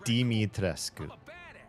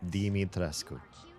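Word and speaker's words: Dimitrescu: Deitrescu. Deitrescu. Kind of sounds like demon almost.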